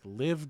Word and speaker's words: LIV: uh the pga versus live uh that is how you pronounce it uh we found out recently it is not liv it is live like live golf and uh yeah okay